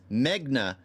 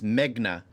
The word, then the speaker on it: Megna: despite their best efforts Magna I've been saying her name wrong for the longest I don't know why I was thinking Megan but it's Megna and Isaac somehow managed